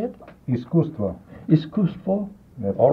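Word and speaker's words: Искусство: Iskustvo.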